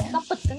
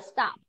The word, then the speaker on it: stop: Nhưng mà stop, mình không đọc là stop it nhá. Mình sẽ đọc là stop.